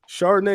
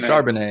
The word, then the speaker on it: Charbonnet: Chardonnay, is that how you say his name? Such a beautiful Charbonnet.